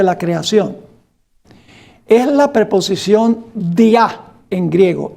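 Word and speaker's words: διά: Es la preposición dia en griego. Día de I a. En vez de tener el acento día en la i, tiene el acento en la a.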